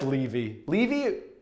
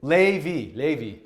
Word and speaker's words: Lévy: I don't know if Lévy is the appropriate pronunciation because it's got the accent aigu, named for French mathematicians Paul Lévy, Paul Lévy, Benoit, who knows Benoit Mandelbrot?